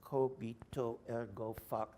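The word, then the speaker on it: cogito ergo: that you think and the right action happens kobito ergo that's how it's pronounced my latin knowing friends tell me I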